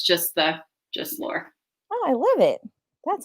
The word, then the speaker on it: Laure: are live today with author laurie is that pronounced correctly war war it's lore yes it's like okay awesome